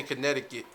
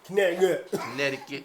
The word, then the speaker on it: Connecticut: That's another one we don't pronounce. But that's like a fun fact for, us New Britanians. That's why we say Connecticut. Connecticut.